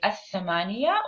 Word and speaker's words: الثمانية: So if you want to say the 8, we say الثمانية, or in عامية colloquial الثمانية.